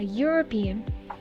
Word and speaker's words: European: We have the word a European, but be careful, the E here is silent, so we will check the letter right after, which is the U. Again, it has a similar case to the first example we just had. So it sounds like if we have